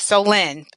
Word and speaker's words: Soleil: select Soleil : so look in the book we pretty much says how to pronounce her name and he's like oh so you mean so lend me some money that's right actually helped me thank you so Lynn I do remember that part but after reading a few books in between I forgot how to pronounce it so Lynn that's perfect no Lynn again